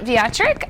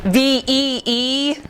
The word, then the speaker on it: Viatric: My name is Viatric. And yes, that's a W, but we pronounce it with a V. It's like Veeatrick is how you pronounce my name.